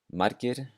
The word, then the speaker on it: margir: In these cases, the G sounds more like a K. So here are the examples. Margir, margir, which means many.